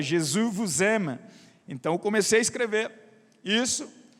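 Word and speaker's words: Jésus t'aime: ele obviamente me ensinou e me falou a pronúncia Jesus gemas então comecei a escrever isso E aí chegou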